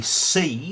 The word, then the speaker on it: Cei: It is a thing called a C, so that's spelled C-E-I, five colours lock.